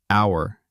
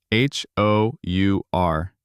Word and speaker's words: hour: Write and hour. H O U R The H is silent hour.